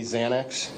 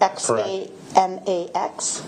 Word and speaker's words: Xanax: field, you know that people commonly think it's really spelled with a Z. That's correct. Because of the pronunciation. Yes. Okay. So, a Z commonly refers to Xanax.